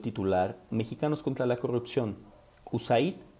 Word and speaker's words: USAID: el Desarrollo Internacional, USAID, que nosotros en México pronunciamos como USAID.